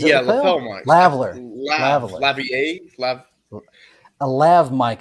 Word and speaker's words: lavalier: Yeah, I know when you spell it, it's lavalier, yeah. But but I I'm sure know that's not how you say it.